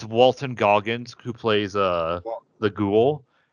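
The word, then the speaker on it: Walton Goggins: I suggest it Walter um what's his name Walter Goggins yeah I I want I don't want to say his name wrong because he he killed it so I'm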